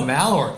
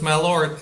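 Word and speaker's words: Malört: How do you pronounce it? I don't know. Malort, I suppose. It's M-A-L-O with an umlaut, which umlaut. doesn't mean much.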